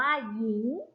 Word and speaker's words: หญิง: งอก อีก ต่อ ไป คำ ว่า หญิง สะกด ว่า หอ ยอม อีก งอ หญิง อ่าน ว่า หญิง ขั้น ต่อ ไป ย่า